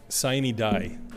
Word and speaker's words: sine die: I'll sine die is how you say the last day of session.